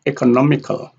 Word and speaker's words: economical: We have multi-syllable word like economical. A here has a secondary stress, economical, governmental, transportation, acceptability, celebration.